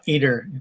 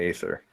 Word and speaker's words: ether: It's not eater. It's actually pronounced ether, but okay.